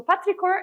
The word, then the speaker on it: petrichor: So petrichor is written like this. And notice here that the SH is pronounced as K.